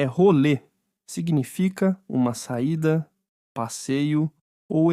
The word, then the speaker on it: rolê: Outro erro é pronunciar rolê como role. O e no final é um som fechado, como em você.